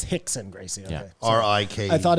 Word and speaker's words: Rickson Gracie: Oh, it's Hickson Gracie. Okay. Yeah. R-I-K. I thought it was a brother I R-I-C-K. didn't know. It's spelt with an R because of the Portuguese.